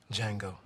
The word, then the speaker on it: Django: he what's your name django the d is silent okay so in the